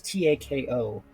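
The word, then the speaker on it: タコ: I just realized that sounds like the word taco, but that's not what it is. It's TAKO. That's the taco that Karen was making me make. For reference, taco is octopus in Japanese.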